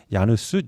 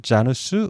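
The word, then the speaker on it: Janus: 신으로 많이 묘사가 됩니다 야누스 자누스 이렇게 발음이 됩니다 그러니까이 야누스 신이 딱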